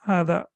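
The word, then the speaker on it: هذا: And you know that there is a small alif basically over here, which normally in modern standard Arabic, they don't write over here. So basically this alif is over here. That means it equals 2 harakat. So it is, we prolong it for 2 seconds.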